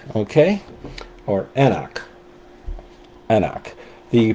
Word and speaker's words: anCnoc: And this one is called Anak. Okay. Or Anoch. Anoch. The pronunciation guide is on one of these boxes pronounced Anoch.